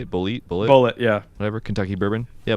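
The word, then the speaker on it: Bulleit: Bullet, yeah.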